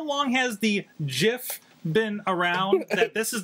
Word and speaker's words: GIF: however they are wrong it is a soft g pronounced jif end of story wow and